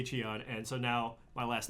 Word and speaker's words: Cheon: the proper pronunciation is Chun, which doesn't make any sense, right? But that's the proper pronunciation in Korean, it's Chun.